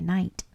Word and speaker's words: knight: In the medieval room, Franklin had fun dressing up like a knight. Let's see how it's spelled. K-N-I-G-H-T. K is silent.